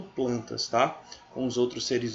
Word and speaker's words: Plantae: Animália tá é reino planta não é reino plantae não pronuncia errada reino